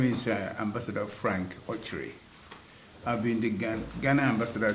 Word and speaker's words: Okyere: It's Okyere in Igbo, but it's Okyere, like you pronounce right now. Right now I got the correct pronunciation.